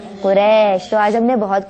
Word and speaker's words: قریش: مکۃ المکرمہ رضی اللہ تعالی عنہ، قبیلہ شریف نہیں، قبیلہ قریش.